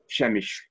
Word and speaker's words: Przemyśl: definitive pronunciation is so for the definitive pronunciation i'd recommend you go to uh the english version wikipedia which actually i think has a recording of how you say it um but it said shamish so just just into